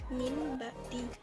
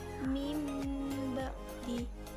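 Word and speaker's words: من بعد: dihidupkan pada informatif sembrono namun cara membacanya bukan Min ba'di berbeda dengan ikhtiar ataupun tidak banget Kalau ikut ini dibaca menggantikan huruf nun mati atau tanwin menjadi ingin jadi emasnya mimba'di kita jadi pendukungnya itu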